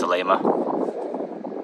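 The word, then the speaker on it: Salema: it's uh I think you call it Salma it's pronounced Salma and weather's been great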